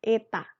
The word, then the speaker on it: eta: Notasi itu bacanya adalah eta.